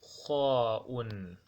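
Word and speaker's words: خاء: After ha'un, we have kha'un.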